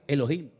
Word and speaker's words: Elohim: desde el principio, es un nombre que se pronuncia Elohim.